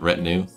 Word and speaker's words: retinue: I want to say this sort of like with a French way because of the way it's spelt. But retinue. That's how you would say that in English.